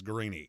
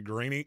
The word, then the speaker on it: Guarini: if his name's zappy mine's Guarini and uh it's not could be telemarketers call me that all the time all you got to do is start pronouncing it that way I answered the phone is this greeny and click as you